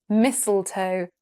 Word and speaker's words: mistletoe: s are in there and the first t is silent. It's mistletoe, not misseltoe.